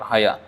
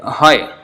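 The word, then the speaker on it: হয়: That is not pronounced like that at all. Haya, but the writing is like that. Ha and ya, ha and ja. So hoy, that is actually written like that, but not pronounced like that. It's hoy.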